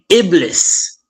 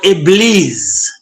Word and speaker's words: Iblis: I wanted to name him Iblis or Iblis, as it is pronounced in Arabic.